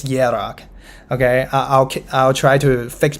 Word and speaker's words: Hierarch: I keep like pronouncing the K sound. I know it's Hierarch.